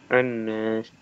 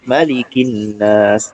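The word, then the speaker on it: النَّاس: Kalau dia di tengah, dia nggak dibaca. Kayak misalnya contoh awal tadi. Misalnya ini kita pisah ya. Nah, kita baca ininya aja. Kita baca yang tadi, berarti kita bacanya gimana? An-nas. Nah, ya dia kelihatan A-nya. Nah, tetapi kalau kita sambung, jadi Malikin Nas. Nah, dia nggak terbaca ya, atau iya nggak terbaca.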